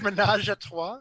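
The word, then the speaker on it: ménage à trois: Or I believe it's pronounced menage a trois.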